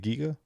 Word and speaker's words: Giga: Did I pronounce that right, by the way? Is it Giga?